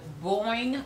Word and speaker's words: Boing: don't have a container for it's actually the Boeing cream by Uyen handmade it's spelled be 0 ing have not seen it